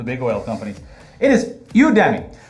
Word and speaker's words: Udemy: It is Udemy. It's Udemy. I finally figured it. So it's like Academy, Udemy. Udemy.